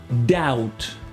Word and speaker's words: doubt: dette ou le doute ou le verbe douter doubt alors là un des cas vraiment étonnant avec